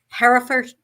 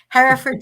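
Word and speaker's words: Hertford: writers she lives in Herford I'll say it right Harford share with her partner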